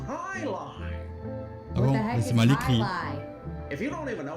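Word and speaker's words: jai alai: team to play against the bellows bloodhounds it's pronounced highline if you don't even know what it is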